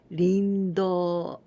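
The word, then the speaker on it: 林道: Instead of hayashi, we say rin. Rin, this is the grove, and do, this is michi, path, or street, road. And here also we pronounce instead of michi in onyomi do, rindo.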